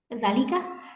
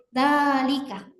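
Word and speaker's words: ذلك: Kita tidak membaca zalika, tapi dzalika gitu.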